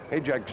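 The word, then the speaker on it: Hajdek: Hayjack's name is spelled H-A-J-D-E-K. Hayjack. It's Bohemian, I believe.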